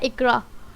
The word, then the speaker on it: Iqra: नाम है इकरा। इकरा के इंग्लिश में स्पेलिंग है IQRA।